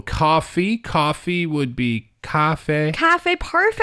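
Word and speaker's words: 咖啡: Not because of the ka or the fe. It's the tones. It's a little higher, right?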